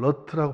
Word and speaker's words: rut: RUT 이것을 어떻게 발음하느냐. 이것은 아메리칸 스타일로 발음한다면 러트라고 발음해요. 러트.